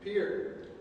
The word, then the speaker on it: Pierre: Well, Seth, the French name for a town in South Dakota would just be profoundly wrong. That's why we pronounce it Pierre.